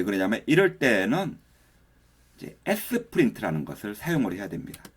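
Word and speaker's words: Sprint: 그러냐면 이럴 때는 이제 s 프린트 라는 것을 사용해야 됩니다 s 프린트 라고 읽으면 되거든요 스프린트 를 사용해 가지고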